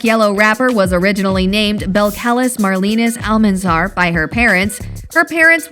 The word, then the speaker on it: Belcalis: My real name is Belcalis. Belcalis? I can pronounce Belcalis.